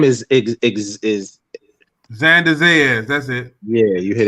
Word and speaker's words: Xander Zayas: His name is Xander Zayas. That's it. yeah, you hit it right on the nose. I still couldn't pronounce it.